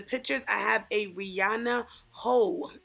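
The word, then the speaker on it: Heaux: I have a Rihanna ho on and that's spelled h e Au uux guys and in the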